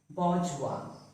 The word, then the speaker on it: bourgeois: Bourgeois. Bourgeois. So this word was borrowed from French. It is not bourgeois, but pronounced as bourgeois.